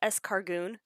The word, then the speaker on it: Escargoon: as they pronounce it, Escargoon.